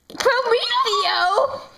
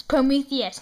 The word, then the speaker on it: Prometheus: Prometheo! It's Prometheus, not Prometheo.